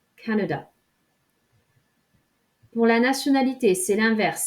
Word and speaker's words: Canada: au canada ce canada je vais bien le décomposer à noeux da et vous insistez sur la première syllabe canada pour la nationalité celle